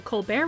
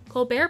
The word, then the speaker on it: Colbert: But other than during the writers' strike, the T is very silent.